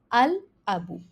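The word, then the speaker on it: الباب: which means the door and ba is a moon letter so we have pronounced the lamb here okay here to identify any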